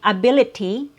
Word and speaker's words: ability: So instead of saying ability with a T sound, in the American accent, you'll hear a very quick D sound.